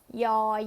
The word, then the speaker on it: ย: เสียง ยอ ยักษ์ เอ่อ ออก เสียง ว่า ยอ อายอ อายอ ต่อ ไป นะ คะ